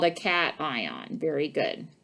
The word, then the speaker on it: cation: yes it's called a cat ion very good cation i know it looks like haitian but it's pronounced cation significant figures significant figures